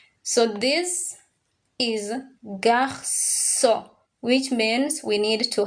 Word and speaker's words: garçon: So it is read as garçon. Garçon. You have to write it well though. It has an N at the end, but you don't pronounce it.